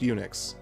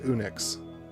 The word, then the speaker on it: Unix: Unix is pronounced Unix. It's not pronounced Unix or Unix.